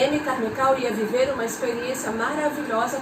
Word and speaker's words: Amy Carmichael: Se escreve Amy Carmichael, mas a gente lê Amy Carmichael.